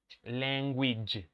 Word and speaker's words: language: have in spanish okay the final sound is this ouija which okay you don't say you don't have to say which okay which the witch